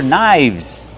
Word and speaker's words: knives: Ah, these are knives. Remember, one knife and two knives. The F changes to a VV. V sound linked to sounds. Knives.